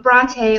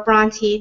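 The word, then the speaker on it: Brontë: Also, Bronte or Bronte, depending on the pronunciation for where you are, for the Bronte sisters.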